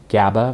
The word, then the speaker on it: GABA: Um, and one of them being you can take some products uh, GABA, which is spelled G- A B- A, which is a precursor to humans making their own melatonin inside their their body.